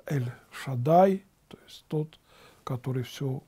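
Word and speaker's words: אל שדי: По-еврейски это имя Божие, пантократор, произносится как Эль-Шадай, то есть тот, который все уравновесил.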